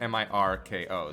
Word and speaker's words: Mirko: yes it's yeah Mirko that I mean that's how it's spelt even by you know the like and everything that I've seen it's just mi RKO so I'm saying Mirko not medical but yeah oh man